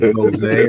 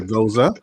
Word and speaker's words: Gose: It is called the Salt and Seed Watermelon Goosey. Others like to pronounce it Gose or Goza.